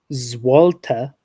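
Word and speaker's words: złoty: Um, well, apparently the currency of Poland is Zwalta according to Wikipedia. And that's how so that's how Wikipedia pronounces it.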